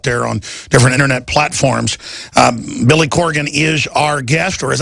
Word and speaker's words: Corgan: Bots crazy out there on different internet platforms Billy Corgan is our guest or as I say it in Texas draw or re butcher names Billy Corrigan Billy Corgan Leanne came here and said you